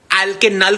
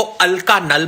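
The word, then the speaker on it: alkanal: एल्केनल को अल्कानल बोल रहा था।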